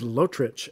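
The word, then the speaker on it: Lotrič: name again for me lotrich l-o-t-r-i-c and then it's got one of those u's on the c to give you the chuck yes well i want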